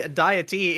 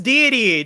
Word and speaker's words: Deity: Okay, and of course we've got the one and only Deity. It's Deity. Deity, how are you? I'm glad you said my name right the second try.